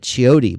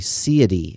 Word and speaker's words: Ciody: I've been saying it Chiotti, but it's actually Ciody, I think.